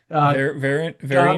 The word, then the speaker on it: Verein: Verein.